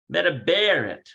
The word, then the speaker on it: מדברת: So you got to put the emphasis on Medabaret.